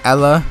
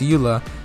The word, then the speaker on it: Eula: uh yula now i used to call her ella but apparently people don't like me when i call her uh ella so apparently it's pronounced eula so eula s plus tear i put her recently c0